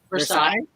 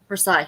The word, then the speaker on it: Versailles: verse versus France how do you say it Versailles Versailles yeah that's it's been a long day for